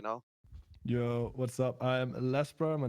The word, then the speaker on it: Lasbra: your background you know yo what's up i'm lesbror my name is but i usually just